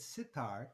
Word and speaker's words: sitar: you might notice that sitar kind of rhymes with guitar right that's because tar